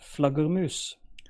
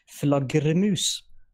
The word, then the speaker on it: flaggermus: So the word is Flaggermus. Flaggermus. All right. No. Flaggermus. Flaggermus. Flagger, not flagger. Flagger.